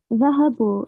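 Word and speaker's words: ذهبوا: Dhahabu, they masculine went. The subject is the waw. The alif after the waw is not pronounced.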